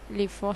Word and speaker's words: LIFO: known as last in first out or LIFO pronounced as LIFO structure।